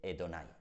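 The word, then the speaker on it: Adonai: de la palabra Señor que en hebreo se dice edonay quedando así el nombre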